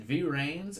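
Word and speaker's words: VRAINS: that I don't remember is it V rains or is it rains it's v rains because there's a - so I don't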